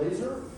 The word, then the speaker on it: LASR: so this is called laser. And it is spelled LASR.